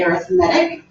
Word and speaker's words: arithmetic: It's spelled the same way as arithmetic, but mathematicians say arithmetic in this particular case.